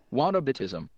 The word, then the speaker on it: whataboutism: can't do that so here's how you say it what Abbott ISM yeah so moderate ISM